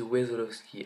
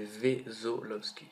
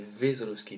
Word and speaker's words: Wesolowski: Ils disent Wesolowski. Alors, est-ce que c'est ton vrai nom? Alors, oui. Et c'est Vezolowski. Voilà. Donc il y en a beaucoup qui ont réussi quand même à prononcer, mais il y en a beaucoup, j'ai entendu, qui disaient Vezolowski. Ça m'a fait un peu rigoler sur le coup. Donc voilà. C'est Vezolowski, putain.